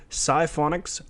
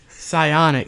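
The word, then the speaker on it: Psyonix: future is getting closer with the news of Siphonic's Rocket League. I gotta send you a list of games and publishers and developers and teach you how to pronounce them. Psionics.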